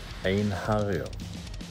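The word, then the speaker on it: Einherjer: The correct way to pronounce our name is Ein-Hario.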